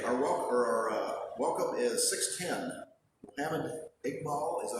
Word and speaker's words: Iqbal: Mohammed Iqbal, is that how you pronounce it? Iqbal.